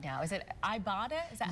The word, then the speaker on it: Ibotta: Is it Ibotta? Is that how yes, it's pronounced? Yes, like Ibotta something. Ibotta.